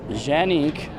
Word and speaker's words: Canik: straight so that's interesting so genique is if you're speaking Turkish that's correct however this is where